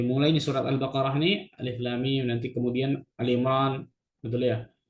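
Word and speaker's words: الم: Cara bacanya makanya Alif Lam Mim, bukan alam gitu.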